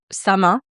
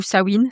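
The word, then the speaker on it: Samhain: Et le début de la saison sombre, il est marqué par la fête de sa main ou Sawine, ça dépend comment on prononce.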